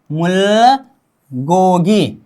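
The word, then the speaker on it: 물고기: र नीचे आ जाने पर हम उच्चारण करेंगे मुल, क्या मुल गोगी, क्या ग प्लस ओ ग प्लस ई गी।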